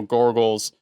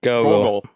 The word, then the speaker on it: Gogol: as one of General Gorgle's... Gorgles? Is that how you say his name? Gorgles? Gogol.